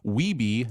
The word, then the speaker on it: Wiebe: Day one begins with Sanders passing on Weeby's scores to Billy this time. He's scoring good scores, but not getting close to 1 million. Sanders clarifies the pronunciation of Weeby, not Weeb, for his last name, and everyone is impressed by his persistence.